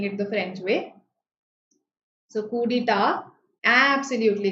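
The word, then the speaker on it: coup d'état: Coup d'etat. Coup d'etat. Right? So coup d'etat, the T there is silent.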